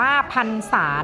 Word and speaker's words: พรรษา: ที่ ๒ พรรษา พรรษา อ่าน ว่า อ่าน ว่า พรรษา นะ คะ ข้อ ดี 3 ข้อ ดี 4